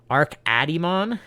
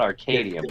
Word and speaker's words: Arkadimon: name I use I I believe it's pronounced uh Arc arkadimon not Arcadium Arc please tell me it's not Arcadium on uh it sure